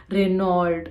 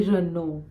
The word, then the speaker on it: Renault: is a French word this is pronounced as Renault it shouldn't be Renault Reynold it should be renew Renault so I think this many